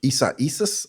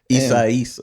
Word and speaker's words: Isaias: It was like during Hurricane Isaias, I think is how you pronounce it. Isaias.